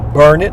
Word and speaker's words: Burnet: County we're in now the you are NE t pronounced burn it darn it can't you learn it well that tea tastes